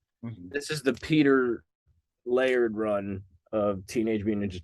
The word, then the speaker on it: Laird: What's Laird's first name? Peter. And I think I was saying his name wrong. It's Laird, I think I was saying Leard.